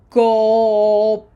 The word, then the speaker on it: cooperar: Cooperar. Cooperar. Okay, 2 vowels together can also form a syllable, usually at the beginning of a word.